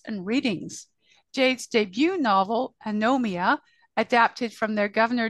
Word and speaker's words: Anomia: ghost writing workshops and readings Jade's debut novel anomia a adapted from their governor General's gold medal